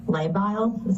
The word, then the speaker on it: labile: The next sentence here says her mood has been labile. Am I pronouncing that correct?